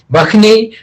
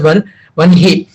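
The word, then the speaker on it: वह्नि: a little difference in, somebody will say it as Bakhni, and some Sanskrit readers will pronounce as Vanhi. Okay, it doesn't matter, it's a minor difference in the South India and North Indian state.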